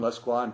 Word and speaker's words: Lescroart: fans this is John less Quan person notice the pronunciation of the name it is less qua anyway we would like